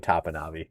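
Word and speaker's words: Topinabee: I will never go I will never again go down I75 without saying Tapanabi.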